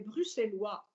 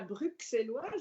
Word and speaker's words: bruxellois: et j'aime particulièrement les bruxellois et vous voyez je prononce bien je ne dis pas bruxelles loire jeudi bruxellois vous avez